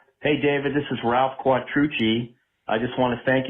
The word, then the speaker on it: Quattrucci: Hey, David, this is Ralph Quattrucci. I just want to thank you for the proper pronunciation of my name.